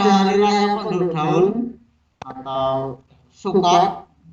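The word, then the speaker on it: Sukkot: Selanjutnya ada hari raya penduduk daun atau Sukot. Sukot bacanya kurang lebih seperti itu.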